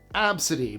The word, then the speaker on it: Abcde: It's pronounced Absidy by some families, and the inspiration 100% comes straight from the first 5 letters of the alphabet.